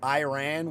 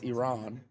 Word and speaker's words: Iran: Iraq, Iraq, because some people say I um Iran, which is wrong. It's Iran.